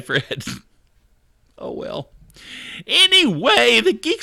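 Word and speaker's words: Phred: For those of you that aren't familiar with Fred, P-H-R-E-D is how it's spelled.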